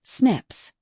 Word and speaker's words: SNPs: Pronounced SNIPS.